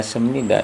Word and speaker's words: 습니다: Yang ketiga sem nida itu sebenarnya kan seperti ini, sep ya.